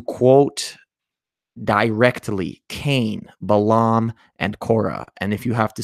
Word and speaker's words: Korah: now we're learning about korah you know what rhymes with qura torah so torah is known